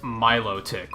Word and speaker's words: Milotic: Apparently, it's pronounced Milotic, which I strongly disagree with.